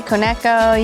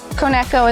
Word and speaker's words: Koneko: So you can say Koneko, you can say Koneko. There's a handful of ways, and of course different accents kind of create their own way of saying it. But Koneko is probably the proper way to say it.